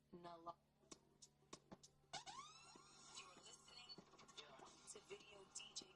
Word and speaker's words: naloxone: Naloxone reverses an opioid overdose, even if you mispronounce it. For the record, it's naloxone.